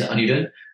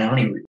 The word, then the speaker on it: Anirudh: The correct Sanskrit pronunciation is Anirudh, but I go by Anirudh.